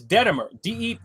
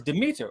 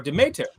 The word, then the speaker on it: Demeter: well, what he said is Detemer, which would be spelled at least Detemer, but the word is Demeter or Demeter. Either one of those two pronunciation work.